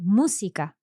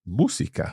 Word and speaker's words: música: Por ejemplo, música. Música. So música, third last syllable pronounced.